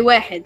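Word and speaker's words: واحد: You guys would say wahid.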